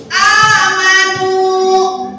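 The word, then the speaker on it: آمَنُوا: Jadi yang nu-nya itu harus panjang sampai 2 harokat.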